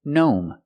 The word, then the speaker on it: gnome: When we see GN at the beginning of a word, the G is silent. Just pronounce the N like a normal N. Example, gnome.